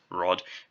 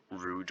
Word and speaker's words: Rød: Apologies if I keep saying Rod. I spent so long thinking that the pronunciation was like rude or something, and not it's rude. Basically, I've been mispronouncing his name for a long time, and